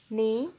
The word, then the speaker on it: knee: Knee, knife, not, no. Answer: silent K.